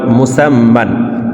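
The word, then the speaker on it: مسمى: মুসামা মূলত মিমকে যখন আমরা বানান করব মিম দুই জবর মান মুসামমান। কিন্তু ওয়াকফের ক্ষেত্রে হারফের উপরে দুই জবর থাকার কারণে মধ্যেও এক আলিফটান পড়তে হবে। মুসাম্মা মুসাম্মা প্রিয় দর্শক এখন আমরা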